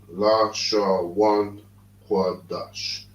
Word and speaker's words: Lashawan Qadash: When you got this character, this symbol here, it means you pronounce it together. So these symbols here is singular. So it's Lashawan, Qadash, meaning holy tongue.